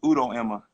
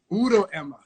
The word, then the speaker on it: Udo-Ema: Man, you got to see because you got the first name right, but you got the last name. The last name's Udo-Ema. Udo-Ema.